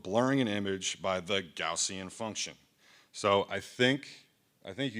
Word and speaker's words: Gaussian: So I actually just had to figure out how to pronounce this because I've been pronouncing it wrong for the past like 10 years. So this is the Gaussian blur.